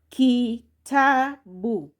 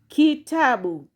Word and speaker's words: kitabu: And lastly here there is syllable key plus ta plus bu you get kitabu kitabu kitabu which is a book so that one